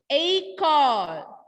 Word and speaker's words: École: So laxo aigu you will be able to see with letter E. Only with letter E. When laxo aigu will come, yuh pronunciation. E sound is yuh. When we practice, that will change to A.